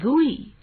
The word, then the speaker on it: GUI: Windows operating system is a graphical user interface or GUI, pronounced as GUI.